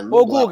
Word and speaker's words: Noblat: Na França o T é mudo no final. Sempre que termina com T em francês você não soletra o T. Noblat.